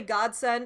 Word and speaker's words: godsend: Alright, so first of all, that was a little bit forced, because when people say godsend, I'm pretty sure they always are emphasizing the first syllable and not the second.